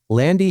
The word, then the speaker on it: Lande: And if you've looked at her name, it's spelled Lande, but it's pronounced Landy.